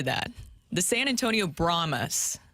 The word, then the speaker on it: Brahmas: they will be facing the BR brahmas that's how you pronounce it correctly I'm still not used to that the San Antonio bromas it's a very unique